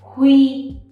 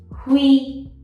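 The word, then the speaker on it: Huy: The eighth we have is hui, hui. Okay? U, I. Make the E longer. Ui, hui.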